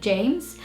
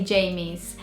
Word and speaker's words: James: The only difficulty I found with the name James is that in the British language, it's a 1-syllable name. So you say James, and Brazilians say it as a 2-syllable name. So say Jamies, which is slightly different,